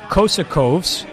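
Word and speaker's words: Kokoškov: Meanwhile, today, the Phoenix Suns make history, Keith, as they hire Igor Kosakovs. Did I pronounce that correct?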